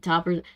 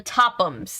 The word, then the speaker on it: Topham: Is it Toppers? The Tophams. That's the name of the really sketchy family. The rich family that everybody hates. It's spelled like Topham.